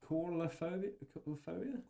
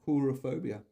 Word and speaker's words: coulrophobia: How do you pronounce that, mate? Coulrophobia? Coulrophobia.